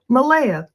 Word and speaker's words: Malaya: Malaya, that's how he pronounces it.